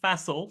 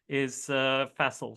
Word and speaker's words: Faisal: It is pronounced Faisal. So in American English, as you would say castle, C-A-S-T-L-E, replace the C with an F and Faisal. That's the easiest I've learned to describe it to an American audience.